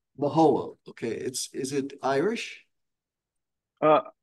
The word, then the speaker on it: Mahowald: How do you pronounce it? Mahowald. Mahowald.